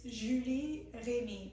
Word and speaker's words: Julie Remy: who's going to tell us really how to pronounce her name. Okay, it's Julie Remy, but I barely ever hear it proper. Oh, so. Julie Remy.